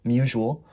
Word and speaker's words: Musial: I mispronounced his name in a previous video, so shout out to someone who commented to correct me. Stan Musial.